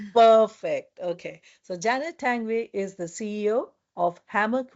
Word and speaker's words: Tanguay: Today I have with me Janet Tangway. Janet, did I pronounce your name correctly? Absolutely. Yes, that's a great pronunciation. Yes. Perfect. Okay, so Janet Tangway is the CEO of Hammock Way of Life.